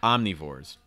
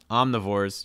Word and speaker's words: omnivore: people are omnivores omnivores you could say omnivore or omnivore you can use a reduction for the eye use a short eye or a schwa sound it's your choice so you say omnivore or a long eye sound not a short excuse me so omnivore omnivore um